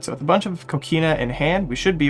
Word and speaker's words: Coquina: Coina. Ah, close enough. I probably should have expected it wasn't a real QU.